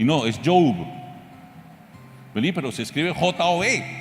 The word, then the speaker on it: Job: Y de pronto yo llego a la palabra Job y le llamo Job, porque así se escribe. Y no, es Job. Pero se escribe J-O-B, se escribe igual que trabajo, se pronuncia diferente.